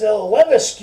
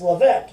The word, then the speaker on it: Levesque: He says, your last name is Levesque or something, right? And he said, well, it's Levesque.